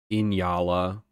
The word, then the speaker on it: Nyala: them and for all for all of those of you who say I pronounce Nyala wrong uh ask a Google Okay Google's never wrong don't you know inyala my ass anyways I mean I'm